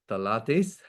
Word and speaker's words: phthalates: Is pronounced phthalates, okay, are chemicals that make plastic soft and flexible.